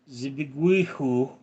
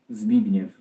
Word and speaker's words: Zbigniew: Zbihu is short for Zbigniewu, which is Polish name. So how do you say that? Let's see here. Yeah, no translation. It is Polish. Zbigniew.